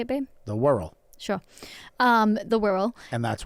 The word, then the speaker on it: Wirral: The Wirral.